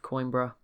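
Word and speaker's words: Coimbra: and i sorry carthage retaking the city of coinbra that's how you say it portugal we'll see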